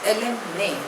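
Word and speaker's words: alumni: माय एलमा martyr next word is एलम ने spelling is ए एल यू एम एन I pronunciation is एलम ने इट इज अ Latin word it means of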